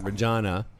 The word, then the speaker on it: Regina: enough to realize that Regina rhymes with vagina it really is a